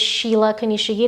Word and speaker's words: Sheela Kunishige: it's called sunday morning my name is sheila konishige that's s s-h-e-e-l-a and then konishigi is spelled phonetically k-u-n-i-s-h-i-g-e uh ata victoria will